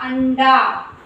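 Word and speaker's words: अंडा: So a, in, da, anda.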